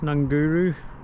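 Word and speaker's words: Ngunguru: the coast a bit past nunguru that's how you pronounce it and in the distance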